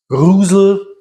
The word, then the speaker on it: Reuzel: Rusel, wie es im Original ausgesprochen wird, meine ich. Aber ganz, wir haben gefühlt schon alle möglichen Aussprachearten gehört. Insofern, wir sagen meistens einfach Reuzel, weil es am einfachsten ist.